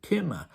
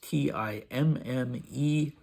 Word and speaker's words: Timme: In Russian, it's spelled Time, looking like the word time, though it isn't time, and it isn't pronounced time. And the other way is Timme, and Dmitri has formed the diminutive Timmechka, which is rather sweet.